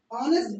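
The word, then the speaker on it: honest: N double नेक्स्ट क्या ऑनेस्ट और ऑनेस्ट ऑनेस्ट एच कहां है साइलेंट क्या करना [गला साफ़ करने की आवाज़] है?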